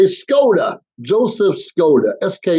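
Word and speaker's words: Skoda: k o da a it sounds exactly like it's spelled but more often than not it gets mispronounced so when someone ask me what's my name I say scod Joseph Scot SK o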